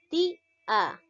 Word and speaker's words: tía: ¿Cuál es la sílaba tónica? Ti-a. A ver, analicemos. Ti-a. En este caso, lo llego a silabear de esta manera, ¿ya? Ti-a. ¿Cuál llega a ser la sílaba tónica? En este caso llega a ser la ti.